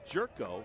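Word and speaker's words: Gyorko: there you go and it's jerko but it's spelled g y o r KO o it's jud's first name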